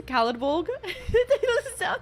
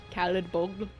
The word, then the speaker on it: Caladbolg: Remember being so disappointed to learn that Caladbolg is pronounced how it looks? Caladbolg? It sounds like a salad bowl. Caladbolg.